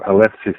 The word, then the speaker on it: Eleusis: What I didn't mention, what I found out during my visit in Eleusis, or Alephsis as the Greeks pronounce it, was the number of initiates.